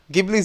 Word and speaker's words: Ghibli: say I'm pronouncing it gibli Studios I know some people are like it's gibl but I'm going to be with a G hard G hard G sound um gibli Studios I want to